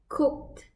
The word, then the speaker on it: cooked: it is cooked correct the right pronunciation of the past ten for the verb cook is cooked verbs that end in a voiceless sound the ed ending sound is pronounced as a tip there is no extra syllable added are the examples such